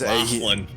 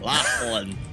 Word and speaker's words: Lachlan: And Lachlan. That's not how you pronounce that name. Lachlan. Alright, there's no GH in there.